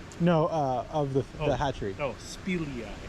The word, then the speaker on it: Speelyai: And how do you pronounce the name? Kokanee. No, of the hatchery. Oh, Speelyai. Speelyai.